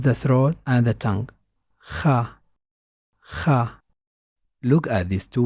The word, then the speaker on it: خ: Its sound has no counterpart in English. You can say it like this: kha, kha. By putting the back of the tongue in touch with the top of the throat.